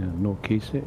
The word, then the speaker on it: NORDKISA: Yeah, NORDKISA is fine. What? NORDKISA? Yeah. It's sort of like he. Kisa. Sounds a bit like cheese.